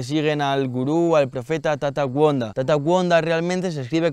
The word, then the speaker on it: Gonda: Lo primero es que puedo confirmar que siguen al gurú, al profeta Tata Wanda. Tata Wanda realmente se escribe con G, Gonda, solo que esa G aquí se pronuncia como una W y de ahí viene